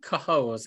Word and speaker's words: Cohoes: Billion times that it's pronounced Cohoes.